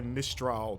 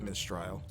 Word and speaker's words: Mistral: cold wind of France what was her name mistrial yeah but it's probably pronounced like mystery you know what I'm saying well she said I Mistral but not that mistrial they're death stranding man